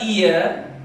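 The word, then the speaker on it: heir: देखिए इसका प्रोनाउंसिएशन ठीक से करना होगा, यहाँ भी एच है ऑनर की तरह, लेकिन यहाँ पे एच का प्रोनाउंसिएशन नहीं होता है, यहाँ प्रोनाउंसिएशन होता है वो ई की तरह, ईयर, और इसका मतलब होता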